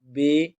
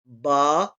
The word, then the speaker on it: با: لہجہ میں ادا کریں، اردو تلفظ سے پرہیز کریں، یعنی بے، تے، سے، ہے، خے، توئیں، زوئیں وغیرہ ہرگز نہ پڑھیں، بلکہ با، تا، تا، حا، خا، قا، ضا پڑھیں۔ یعنی کہ معلوم ہوا،